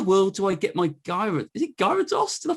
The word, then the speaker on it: Gyarados: How in the world do I get my Gyarados? Is it Gyarados? Did I pronounce that right?